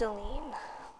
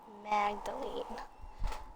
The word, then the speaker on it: Magdalene: the end of the video to more fascinating pronunciations magd Magdalene Magdalene magdaline wait just a moment yes what is